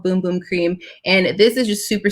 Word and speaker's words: bum bum cream: light's so bright and it's spelled uh bum bum cream but it's called boom boom cream and this is just